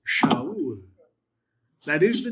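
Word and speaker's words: שאול: How would you pronounce that? Saul. Careful. Give me the first letter again. Shin. Shaul. Shaul. Shaul. It's not Saul. It's Shaul.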